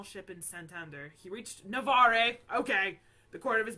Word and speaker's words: Navarre: the Castilians aiding him so it is Navarre I said Navarra but it's Navarre so I still got